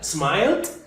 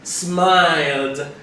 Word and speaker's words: smiled: se pronuncia se pronuncia smiled cómo así baby se pronuncia smiled con una elegante pronunciación de D al final smiled yo sonrío I